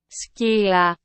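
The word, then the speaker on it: Scylla: don't have the syllable but let's try it in Greek because technically it's based on Greek right skia yeah that seems pretty hard in Greek yeah so in Greek or in English according to Google Translate it sounds like with a hard C but we can we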